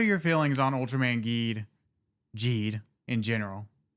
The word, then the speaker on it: Geed: been saying Ultram Man Ged, but the pron is actually pronounced G. Ultram Man Ged like geriatric. Not I don't know about that. The G is a J sound.